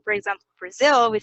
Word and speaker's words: Brazil: It's lower, it's shorter, it's less clear, so you get bra, bra, Brazil, and zil is the stress, Brazil.